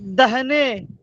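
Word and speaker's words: داہنے: ওই তো দাল আলি দাহনে। খা দাহ না, নুন ইয়ে নে দাহনে। এখানে আলিফ উচ্চারণ হবে না।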